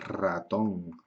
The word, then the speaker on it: ratón: nombre propio ramón muchos nombres ramón ricardo porque son nombres propios que empiezan por l pero solo se escribe una al inicio de palabra pero el sonido del sonido sería doble ok el sonido es doble y también cuando cuando